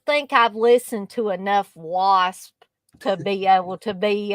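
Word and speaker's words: W.A.S.P.: on things sometimes but do you pronounce it wasp or do you are you surprised it's wasp okay yeah because sometimes I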